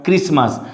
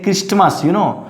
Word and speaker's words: Christmas: And definitely we might have heard about this word Christmas. So don't say Christmas, So here is T is silent, and next word is fasten.